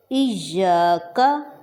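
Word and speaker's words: إِيَّاكَ: مالکی یوم الدین، ایاک، اب یہاں سے ہم دیکھیں کہ یہاں پر ہمارے پاس یا پر شد ہے، تو اس کا مطلب کیا ہوا کہ ہم یہاں پر زور دے کر بولیں گے، ایاک، ایاک نہیں کہنا، ہم یہاں پہ ایاک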